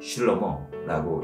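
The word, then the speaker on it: שלמה: 히브리식 발음으로 이 왕의 이름은 슐로모라고 읽습니다.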